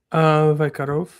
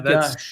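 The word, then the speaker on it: ויגש: Vaikarov. Vaikarov. Vaikrav? Yeah, Vaikrav? Vaikarov. Or Sorry. Vaigash? Yeah, Vayigash. Yeah, Vaigash. that's the right one.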